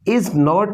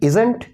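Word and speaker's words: isn't: इसकी जो प्रोनाउंसिएशन है वो है इजंट या फिर इजन, इसे प्रोनाउंस करते हैं।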